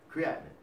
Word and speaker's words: creatinine: All right, so anyway, creatinine. Sounds like the word what? Creation.